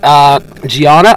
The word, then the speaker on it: Dhyana: So, the new record, Dhyana, am I pronouncing that right? Yes, that's correct.